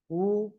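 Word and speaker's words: وُ: কেমন হবে ওয়াও পেশ বু বলেন অনেকে ওয়াও পেশ কি বলেন জানেন ওয়াও পেশ বু এটা বলেন এটা ভুল বলতে হবে এরকম ওয়াও পেশ উ ঠিক আছে বু এরকম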